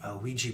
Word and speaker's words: Ouija: you will of a Ouija board I never wanted to put liji in the song after although rhymes with Ouija other than squeegee or Fijian that would just pull